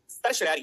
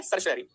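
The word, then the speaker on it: certiorari: होगी that is द सर श रारी इसका प्रोनाउंस एशन सही तरीके से करना क्या होता है सर श रारी सवासी जुडिशल अथॉरिटीज वो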